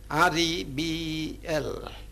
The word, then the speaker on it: rebel: For instance, let's take the word represented by the spelling REBEL. If it is used as a noun, we place the stress on the first syllable and we pronounce the word rebel.